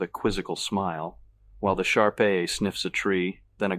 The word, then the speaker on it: Shar-Pei: "Shar-Pei, accent on the last syllable.